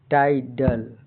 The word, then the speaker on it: tidal: पर ही वह वर्ड समाप्त हो तो का उच्चारण साधारणतः आई होता है। जैसे TIDAL, यहाँ क्या है? TIDAL, टाइडल मतलब TIDL माने AEIOS आई के बाद BR